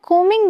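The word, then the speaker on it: combing: तो यहां ध्यान रखें इसे हम कोमिंग बोलते हैं। बी साइलेंट होता है।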